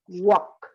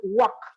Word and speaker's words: walk: work would could talk repeat after me please walk walk walk like the work okay the thing